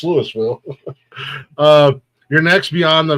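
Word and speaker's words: Louisville: I also say Lewisville. Why? Because it pisses people off. It's Lewisville.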